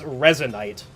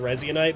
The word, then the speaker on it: resinite: And somebody said it's resinite. Dude, I don't care how it's said. I like saying resite because it's more fun in my mouth to say that's why.